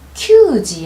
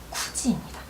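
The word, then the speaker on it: 九時: 그 다음 큐지 아니고요. 쿠지입니다. 요렇게 4, 7, 9에 대한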